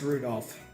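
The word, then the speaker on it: Rudolf: Come on, it's just Anyway, this guy's name is pronounced Rudolph.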